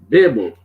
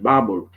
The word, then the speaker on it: Babel: Some people pronounce that the Tower of Babel. I prefer the word Babel, okay? Because when you talk on incessantly, people say you're babbling, not rather than babbling.